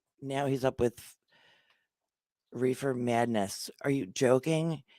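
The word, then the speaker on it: Reifer: called my thank you my maiden last name was reefer r-e-i-f-e-r pronounced reefer so you tell me as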